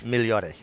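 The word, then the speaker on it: Migliore: in Italy thank you clearly G silent just like my name is yeah every migliori it's miliore sounds way better than when you say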